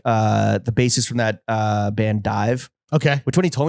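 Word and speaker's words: DIIV: I thought it was Div. Dive.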